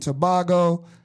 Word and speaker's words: Tobago: Raised in Brooklyn, New York, with deep roots in Trinidad and Tobago.